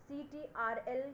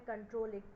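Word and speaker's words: Ctrl: इज कंट्रोल प् सी सीटी आर एल का फुल फॉर्म उसको हम प्रोनाउंस करते हैं कंट्रोल कोई भी सीटीआर एल नहीं बोलेगा इट इज कॉल्ड एस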